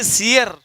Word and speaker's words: sere: एंड सियर, और सियर का अर्थ है जो मुरझा गया, सियर, SERE, उच्चारण पे ध्यान दीजिएगा, सियर, सियर का मतलब है मुरझाया हुआ।